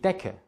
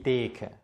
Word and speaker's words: Decke: Es ist allerdings wichtig zu wissen, dass wenn C und K zusammenstehen, wird der Vokal, der vor C und K steht, kurz ausgesprochen. Es ist also die Decke, nicht die Deke.